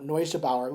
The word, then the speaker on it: Neugebauer: The decathlon, I had it as Leo Neugebauer, which is the correct way to pronounce his last name.